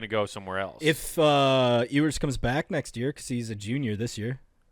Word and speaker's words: Ewers: If Ewers comes back next year, because he's a junior this year.